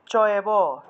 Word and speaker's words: চৈব: মনে করুন চৈব আছে, চৈব থাকলে উচ্চারণ হবে চয়েব, চ যুগ এব, চৈব।